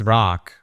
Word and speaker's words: Rak: It's rock, but it's spelled R-A-K.